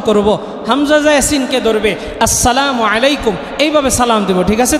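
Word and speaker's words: السلام عليكم: হামজাটাকে ভালোমতো উচ্চারণ করবো। হামজা ইয়াসিনকে ধরবে। আসসালামু আলাইকুম।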